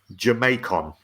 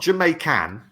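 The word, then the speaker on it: Jamaicón: defender plays from mexico he's nicknamed jamaicon not jamaican it's got nothing to do with jamaica as far as i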